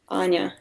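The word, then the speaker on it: Аня: or anya it's uh for people who are talking english it's hard to pronounce anya uh because they have no soft as i call it uh soft vowels you know uh it's hard for them to pronounce like because they have um only they could say and they couldn't say anya but actually it's something like this anya it's my short name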